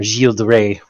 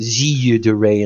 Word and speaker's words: Gilles de Rais: said, Grigory Rasputin and Gilles de Rais, or Gilles de Rais, or however you want to pronounce it. It's Gilles de Rais in French.